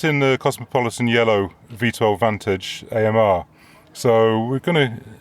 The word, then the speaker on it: Vantage: Um, so I pronounce it Vantage just out of respect to him and probably nobody else would.